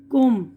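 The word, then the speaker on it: comb: मंजर नजारा जिसे बोलते यहां पर बी की आवाज साइलेंट है कोम कंगा यह कोम बोल र सीओ एम बी है लेकिन कोम बी साइलेंट इसी तरह लम मेमना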